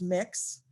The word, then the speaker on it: Mx: is mx period and it's pronounced mix i do have someone